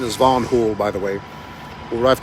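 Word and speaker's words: Van Hool: I've come to find out though for the pronunciation is vanon Hol by the way what I've come to find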